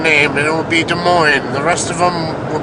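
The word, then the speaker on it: Des Moines: their own city name except De Moine. They're like, "We have De Moine." even though it's spelled funny. We'll make one unique town named and it will be De Moine.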